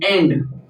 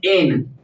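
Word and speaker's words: and: Spoken में हम लोग बोलेंगे एन। बी साइलेंट रहेगा एन क्या बोलेंगे एन ए नो एन एन नॉट एंड ठीक है बोलते समय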